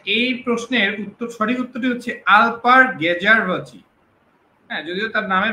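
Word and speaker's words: Alper Gezeravcı: আচ্ছা, এই প্রশ্নের সঠিক উত্তরটি হচ্ছে আলপার গেজারভচি। হ্যাঁ, যদিও তার নামের বানানটা হয়তো, স্পেলিংটা হয়তো একটু মানে উচ্চারণটা একটু ঝামেলা, অ্যালপার গেজারভিক এরকম করে উচ্চারণ হয়।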